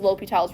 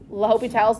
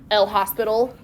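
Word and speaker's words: L'Hôpital: read, it was both L'Hopital's, like, with hospital, but then also, like, with a little accent on the O. So you'll see it both ways, but it's not El Hospital.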